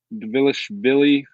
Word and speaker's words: Dvalishvili: Dvalishvili. We'll just call him Merab because it's called Merab. I don't think you pronounced the D.